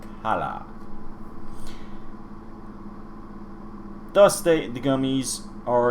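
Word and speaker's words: Calla: good rulers daughter princess cali cali check my pronunciation here yep princess kala c-a-l-l-a kala thus they the gummies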